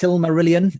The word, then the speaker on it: Silmarillion: How's it pronounced? Silmarillion?